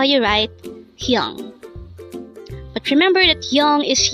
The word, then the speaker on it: 형: HYEONG. HYEONG. This is composed of just one syllable. Pronounce it with me. HYEONG. HYEONG.